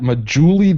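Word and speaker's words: Medjool: Crystal is suggesting a nice fat majuli date or a majule date as for sweets. Do it. Is that, did I pronounce that right?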